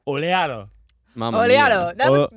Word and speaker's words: Oleato: We're gonna get us some oleatos. It's the new Starby drink. It's pronounced oleato. Oleato.